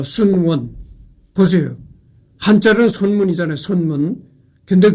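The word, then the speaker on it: 孫文: 대한민국 어 중화민국 중화민국 초대 임시 대총통 어 순원 보세요. 한자는 선문이잖아요. 선문 근데 그 중국 발음으로선 순원이라고 이렇게 얘기한 거죠.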